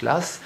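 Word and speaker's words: Law: du financier écossais Lass, donc ça s'écrit là-haut, mais ça se prononce Lass, et 1 milliard de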